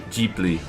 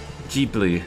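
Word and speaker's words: Ghibli: How do you pronounce it again? Jibli. Jibli. There we go. Good grief. I should really know how to pronounce that. Jibli.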